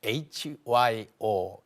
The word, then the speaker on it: 효: 이렇게 말할 수도 있지만은 한국식 발음 그대로 교 hyo hyo 무슨 약자 하면은 한번